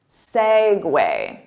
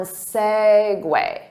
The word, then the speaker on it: segue: Segue. So the syllable stress is on segue.